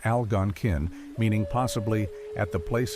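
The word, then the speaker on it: Algonquin: The Alangan, pronounced Algonin, meaning possibly at the place of spearing fish, were the original bearers of the broader Alangquan language family name.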